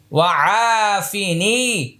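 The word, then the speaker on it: عافني: ও ফাজের ফি ননি ওফিনি ওফিনি এটাও এক আলিফ টানতে হবে এইটাও এক আলিফ টানতে হবে এটাও এক আলিফ টানতে এটা এক আলিফ টানতে হবে।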